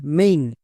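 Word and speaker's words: main: আই এল Y daily M এ আই এন মেইন একে আমরা ভুল করেও টেল ডেইলি বা মেন এরকম বলতে পারবো না বোঝা গেল তাহলে এ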